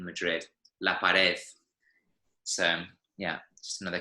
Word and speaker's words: Madrid: how in in Spain they pronounce a D at the end of the word they're almost like a th in Madrid Lepidus so yeah just